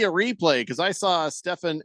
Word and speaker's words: Stephen: that where it's like that's a PH sound. Obviously, you pronounce it Stephen.